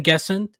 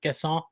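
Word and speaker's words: Guessand: Um they brought in Evan Gesson. Totally pronounced that wrong. It's probably closer to Gasson.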